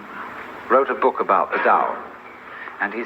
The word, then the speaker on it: Tao: paul the dao tao pronounced dao in the mandarin dialect tao in the shanghai dialect and the cantonese dialect take your choice